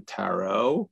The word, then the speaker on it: tarot: want one of those uh turo decks right he goes you mean the tarot you know like he's like don't you know how to say it being pretentious with you